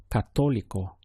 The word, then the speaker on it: católico: The word for Catholic is católico or católica. It's important for pronunciation that your stress comes here over the O.